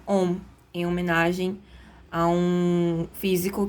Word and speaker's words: ohm: Essa letra grega ômega, que se pronuncia ohm, em homenagem a um físico que estudou resistência elétrica, né?